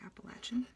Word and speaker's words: Appalachian: moved to Virginia but people from this area usually say Appalachian and so I figure that's the correct way to say it people who are living here should know how to pronounce it I guess Appalachian Plateau